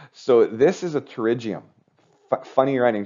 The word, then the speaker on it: pterygium: so this is a pterygium funny writing just remember how to write pterygium right silent P there it is the silent P I'm going to change